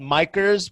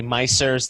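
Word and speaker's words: Micers: it was originally called micros but we decided to put open because we micros is spelled m-i-c-e-r-s and we didn't know if people would say mycers they wouldn't know if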